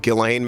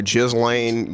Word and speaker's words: Ghislaine: I know her name is actually pronounced Ghislaine Maxwell, but I just think it's kind of funny that people call her Ghislaine, given how appropriate, all of this mess is.